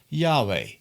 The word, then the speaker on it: Yahweh: all life is always present in English we pronounce it as Yahweh in the Bible you see that many people